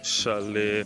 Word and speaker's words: chalet: So this leads to chalet 1 to 7. I looked up the word and it is pronounced chalet. It's of French origin.